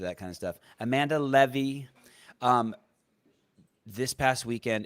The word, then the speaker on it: Leve: your name right uh it's levy but everyone says levy so i just kind of go with it i understand when your name's seven you're used to that kind of stuff amanda levy um this past weekend